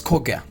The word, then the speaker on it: koekje: The pronunciation of this is Koekje. It's a Dutch for a little cake.